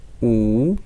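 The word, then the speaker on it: 五: 5 is wu. This is third tone. You have to a little bit careful.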